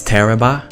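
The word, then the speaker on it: Tarrabah: I have never met anybody who can actually pronounce Teraba correctly. It's Teraba.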